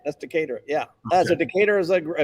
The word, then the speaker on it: Decatur: I'm going to mispronounce Decatur or Decatur. Yeah, that's right. That's Decatur.